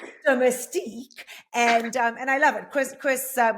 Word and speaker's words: Domestique: So to use Domestique, and I believe I pronounced it incorrectly initially, so it Domestique. is Domestique, and I love it.